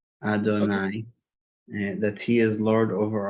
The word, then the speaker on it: Adonai: When articulating the name Yud Hey Vav Hey, one should have in mind the meaning of the name as it is pronounced, Adonai, that he is Lord